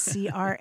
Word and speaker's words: crayon: for wax coloring devices, C-R-A-Y-O-N. There's what I grew up saying in Kentucky, which was crayon. I mean, most people say it as one syllable.